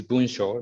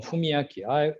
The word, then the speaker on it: 文章: why my name is Bunsho. That is a very, very long history, and I changed the pronunciation starting from Fumiaki. When I was young, the parents called me Fumiaki using the same Chinese character, but I changed my